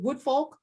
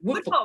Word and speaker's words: Woodfolk: Is it Woodfolk or is it Woodfolk? Woodfolk. Yeah, you're saying it right.